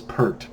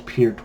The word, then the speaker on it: Peart: now and short disclaimer I have pronounced Neil appears name as perked my whole life the first time that I heard that it should be pronounced appeared was word of mouth so I didn't necessarily believe it dan Minos was confirmed by appeared himself so if perc comes